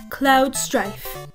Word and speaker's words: Cloud Strife: name they the japanese language followed english words cloud strife they then replicate it as well as they